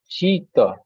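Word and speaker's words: शीत: It is Talabesho Shita.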